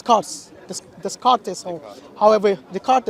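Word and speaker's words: Descartes: this this cartes however the card is how we pronounce it yeah so basically that's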